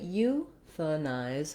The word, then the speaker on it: euthanize: And in this syllable, the th syllable, the letter A is vowel schwa. It's a reduced vowel. So it doesn't say a or ah, anything A related. It just says euthanize.